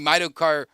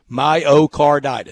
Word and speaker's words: myocarditis: If they're that worried about the running in place and the myocarditis, I can never say it right. Say it for me one more time. That's fine. Myocarditis.